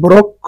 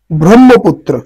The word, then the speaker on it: ব্রহ্মপুত্র: বৃহত্তম নদী কোনটি ব্রহ্মপুত্র এখানে দেখো অনেকে এটাকে ব্রক্ষ উচ্চারণ করে থাকে মনে করে এটারে যেমন আমরা শিক্ষক এইরকম বানান আসলে না এই বর্ণটা দেখো এই একটা আর এই একটা দুইটার মধ্যে পার্থক্য আছে এইটাকে বাংলা হবে ক যোগ মধ্যে আর এইটাকে বাংলা হবে হ যোগ ম সু সুতরাং উচ্চারণ হবে ব্রহ্মপুত্র কি হবে ব্রহ্মপুত্র এরপরে দেখো সিলেট কোন